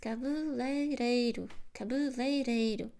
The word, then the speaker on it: cabeleireiro: So you practice cabeleireiro. Practice, because if you do this over time, you will eliminate the mispronunciation, and you will stick with the correct pronunciation.